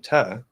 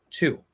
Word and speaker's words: to: an a sound however we know that it's most common to reduce it from and so we get ta now that saying to or saying ta as far as the vowel part goes that's a range there's the fully articulated fully enunciated version of the word which would be a t with an o two that is the only way to say it fully enunciated fully articulated okay two